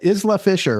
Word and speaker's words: Isla Fisher: Is LA Fisher, right?